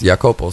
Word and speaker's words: Iakopo: I got to Sam they just pronounced my name as yopo so that's just you